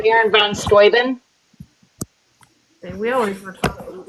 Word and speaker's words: Steuben: Baron I von totally Steuben. Right? Baron von Steuben. We always were talking about Steuben. Wait, what about him? I zoned. How do you say his name? Steuben.